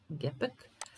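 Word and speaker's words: Gepäck: Gepek. A ovde gepek. Samo ga akcentujemo na ovom drugom slovu.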